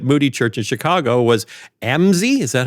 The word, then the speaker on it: Amzi: When Moody died, the person who took over his own pulpit at Moody Church in Chicago was Amzie. Is that how you say his name? Yeah, Amzie Dixon.